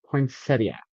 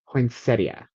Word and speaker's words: poinsettia: Poinsettia. Thea is actually supposed to be at the end. Poinsettia.